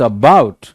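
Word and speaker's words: about: इट्स not like अबाउट या अबाउट, इट्स अबाउट। सो बाउट पे जोर है, ना कि ए पे।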